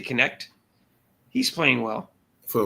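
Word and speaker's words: Knecht: I'm not sure how to pronounce his last name, but Dalton Connect. I think they say Connect.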